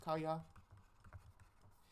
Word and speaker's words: kaya: We have ka plus a becomes kaya, and me plus a becomes meye.